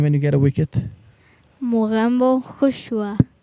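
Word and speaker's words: Mogambo khush hua: Mugambo Hushua. Mugambo Hushwa.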